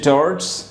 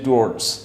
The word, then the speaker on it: towards: একটি হচ্ছে towards, এটা কম ব্যবহৃত হয়, আর একটা হচ্ছে টুয়ার্ডস, এটা একটু বেশি ব্যবহৃত হয়।